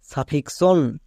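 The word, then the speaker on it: suffixion: পরে ওন আছে ওন থাকার জন্য এক্স এর উচ্চারণটা হয়ে যাবে কস তাহলে দাঁড়ালো এফ এল ই এক্স ও এন ফ্লেক্সশন নেক্সট সাফিক্সশন এখানেও দেখো এক্স আছে এবং এক্স এর পরে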